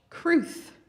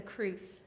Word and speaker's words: Crwth: And I'm playing an instrument called the Welsh Crwth, or it was known as the Crwth in Wales. Crwth is spelled C-R-W-T-H naturally, and I'm playing this because